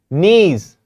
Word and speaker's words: knees: And knees, K is silent.